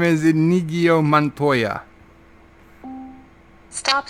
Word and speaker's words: Inigo: It's pronounced Inigo Montana.